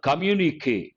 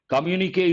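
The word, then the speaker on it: communiqué: so many words uh communique careful with how you pronounce it here above the letter e there should be a stroke communique is also a noun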